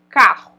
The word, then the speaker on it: carro: mas enfim bom ã depois a gente tem carro a gente escuta dois RS como é que se escuta dois r a gente escuta um R só mais forte então aqui a